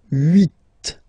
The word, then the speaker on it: huit: Then here, final t is pronounced. So huit, huit. Remember in French this H letter here, okay, doesn't exist phonetically, so we don't really pronounce it, okay? So if you listen carefully, you will only listen or hear these vowels at the beginning of the word. Huit, huit, okay?